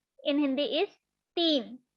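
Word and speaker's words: तीन: Don't pronounce this word like Tina. It will be a name. Okay, so the ta will be pronounced like t. Sorry, the t will be pronounced like ta.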